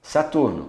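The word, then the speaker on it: Saturne: Saturno, Saturn. Não pronuncia o E, mas tem um N mais longo.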